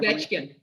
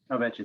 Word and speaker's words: Ovechkin: The title of those, again, are Taking the Ice, When You Least Expect It, and Alexander can you pronounce that last name? Ovechkin. Ovechkin.